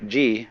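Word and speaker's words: 事: The word Ji, which is Japanese way of pronouncing the Chinese Chur, is the world of things and events.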